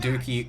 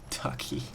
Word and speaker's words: Ducky: Going to be taking some more kills than Dookie, or Ducky. Oh man, you can really tell I'm tired at this point. But Ducky, I've been saying it right this entire time and I mispronounce it